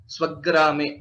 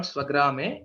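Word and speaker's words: स्वग्रामे: Swagrame, it is not Swagrame, it is Swagrame. That Dvitva is always expected wherever there is a Sanyukta Akshara.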